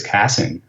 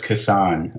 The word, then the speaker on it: Kassan: to her and like oh I think it's casting and she goes no no it's kisan I know him oh I'm like oh I'm